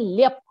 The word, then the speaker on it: ल्यप: ल्यप प्रत्यय का नाम देख लीजिए, आधा ल, य और प पे हलंत आता है, ठीक है। ल्यप प्रत्यय, इसका उच्चारण है ल्यप, उच्चारण बिल्कुल सही होना चाहिए।